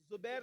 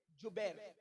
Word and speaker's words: جبیر: کو عبداللہ ابن جبیر، زبیر نہیں بلکہ جبیر، جیم سے جبیر، تھوڑا سا آج کل